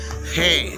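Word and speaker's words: הא: ஹே உடைய சவுண்டு இங்கிலீஷில் லைன் என்ன லைனில் வருதுன்னா ஹெச் லைனில் வருது. ஹெச் for house, H for hours. So இந்த மாதிரி ஹெச் லைனில் ஹே செயல்படுகிறது. தமிழுடைய உச்சரிப்பு ஹே உச்சரிப்பு எந்த உச்சரிப்புன்னா ஹ, ஹே, ஹா, ஹே என்ற உச்சரிப்பில் செயல்படுகிறது.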